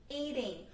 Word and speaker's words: eating: A pronúncia do ing é como se fosse o nhá nosso no português, como a gente tem manhã, caminhar. Esse nhá, o som do nh nosso do português, é bem parecido com o som desse ing, tá? Então fica nhá, nhá. Tanto que a gente não pronuncia o g no final.